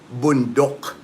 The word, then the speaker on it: bundok: The word for mountain here is bundok. B O N D O K. Bundok. That's how it's pronounced here.